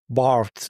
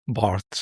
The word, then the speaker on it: Barthes: I'm sorry, I have been mispronouncing Barthes and and saying Barthe. He is Barthes, so This is a note from my team.